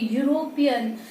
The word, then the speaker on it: European: word carefully european so initial letter e is wall but still it has a wall sound why because when i pronounce it it sounds like yes you okay so air comes out with friction so it has consonant sound so we used a